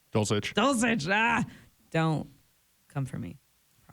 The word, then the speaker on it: Dulcich: Dulcich.